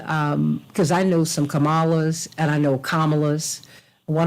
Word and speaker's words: Kamala: just want to say it's vice president Kamala not camela and I don't think